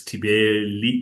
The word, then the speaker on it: Thibeli: It's Thibeli. It's spelled Thibeli, but it's pronounced Thibeli.